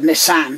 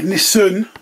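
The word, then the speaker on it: Nissen: I said Nissan, didn't I? Nissan. It's an EN, not an AN.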